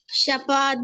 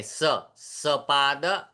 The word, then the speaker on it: सपाद: शपाद पंचवादनम शपाद षष्ठवादनम। नहीं श नहीं सपाद पंचवादनम सपाद सपाद पंचवादनम शपाद षड्वादनम शपाद सप्तवादनम शपाद स अष्टवादनम। सपाद बेटा स बोलते हुए हमारी जो जीवा है ना वो दांत को छुएगी।